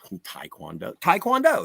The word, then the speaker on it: Taekwondo: Blues Brothers but yeah no Kung Fu Taekwondo Taekwondo that's how you say it and uh yeah